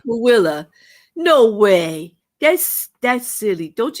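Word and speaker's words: Tooele: What tool in Utah is actually pronounced Willa?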